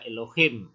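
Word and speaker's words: אלהים: Ya, huruf pertama alef. Alef itu silent letter, jadi dibaca vokalnya saja. Nah, vokalnya adalah vokal E plus seva itu ya, seva. Jadi tetap baca E ya. Kemudian huruf kedua itu lamet atau L dengan vokal O, elo. Kemudian huruf ketiganya H atau H dengan vokal I. Kemudian huruf yang terakhir itu mem final ya, M. Jadi dibaca Elohim, artinya Allah atau ilah.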